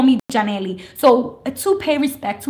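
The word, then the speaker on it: Yanely: My parents are Dominican American, and so the way that my name is pronounced at home with my family is Janely. But in English, it's a lot of people see the way it's spelled. It's spelled Y-A-N-E-L-Y. So when you see a Y in English, it makes the Y sound.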